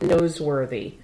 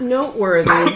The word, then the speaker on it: Noseworthy: Jack Noseworthy. Noseworthy. Noseworthy. Not noteworthy, it's Noseworthy.